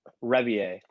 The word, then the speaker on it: Rebier: His name is like Mark Rebele or Rebele. Yes, Mark Rebier. Yeah, he's the is best. That how you say it? How do you say it? Rebier. Yep.